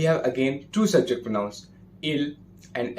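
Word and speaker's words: ils: Their pronunciation is as same as the singular il and elle have.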